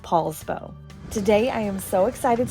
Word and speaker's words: Poulsbo: it to Washington, D.C., the handwriting was misread, and therefore it was known as POULSBO with an OU thereafter. But I learned after the fact that it is still pronounced POULSBO.